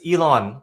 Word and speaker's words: Yilun: n but the pronunciations Elon like Elon Musk so Elon thank you